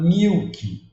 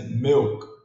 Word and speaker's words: milk: Muitos falam milk, mas é milk, milk.